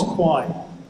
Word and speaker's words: Kwaai: Let me let me talk about what is Qui it's a really really funny word k w a a i lots of people misspell it kwi I I uh Kwa ai.